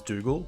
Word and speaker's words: Dougal: real name is is dougal which uh rhymes with google um so i guess